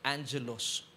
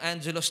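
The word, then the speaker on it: ἄγγελος: ni messenger in greek It's agilos pero It's pronounced as Angelos gab hindi ikaw ito ha So ibig sabihin Iyung Angelos dito It's a messenger of Satan agilos pero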